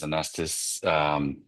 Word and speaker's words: Anastas: Apologies if I pronounced that wrong. Yeah, so g'day everyone. My name's Anastas.